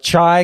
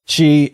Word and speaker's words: chi: 95% sure it's pronounced Kai because and I know this because the Kai rho was the symbol that, you know.